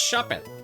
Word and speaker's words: Shuppet: a ride the So that's why I call it shupet. So if you're like, "No, it's shuppet." The inside joke between me and my wife, you know, overrides your your desires for me to pronounce things correctly.